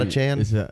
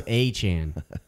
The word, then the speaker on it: Achane: Is it not a Chan? It's like Jackie Achane. Someone was like in the comments, it's spelled Achan. And I was like, actually, it was just the letter A. And I was like, no, it's A-Y-E. It's Achane.